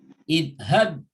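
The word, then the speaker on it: اذهب: Ini adalah merupakan satu kata yang dibaca dengan idhab. Ya. Kata ini terdiri daripada beberapa huruf. Huruf pertama adalah alif, huruf keduanya za, huruf ketiganya huruf ha, dan huruf keempatnya huruf ba sukun.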